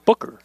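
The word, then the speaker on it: Beougher: beo u GH er beo ugh er Booker is how you pronounce really yeah pickle cameraman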